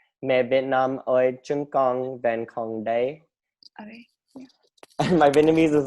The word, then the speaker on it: Mẹ Việt Nam ơi, chúng con vẫn còn đây: And what's the Vietnamese name, or how do you say Mẹ Việt Nam ơi, chúng con vẫn còn đây.